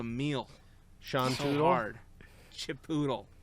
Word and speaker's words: Chipotle: Chipotle. Sean Tootle. Yep. Doodle. There's a video. It's just like this account that would just like mispronounce words, but they're like how to pronounce Chipotle, but they wouldn't say it.